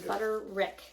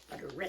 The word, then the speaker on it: Butterick: my pattern here for you oh you used butter Wick awesome I also used or Wick does we know what we're talking about it's butter rck butter rck which sounds foreign to me butter Wick butterwick